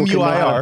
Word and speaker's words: Muir: So people M-U-I-R. Can pronounce my last name.